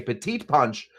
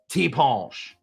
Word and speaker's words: ti' punch: called the T PCH that's how they say it I'm not uh you can either say a petite Punch or you can say a t punch so I want you